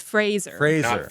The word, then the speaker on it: Fraser: People mispronounce his last name is what it is. Fraser. It's Fraser. Fraser.